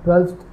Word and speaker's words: twelfth: मैंने आपको बताया हल्का सा फ का साउंड आता है ट्वेल्थ बोलने में, और इसकी स्पेलिंग है TWELFTH।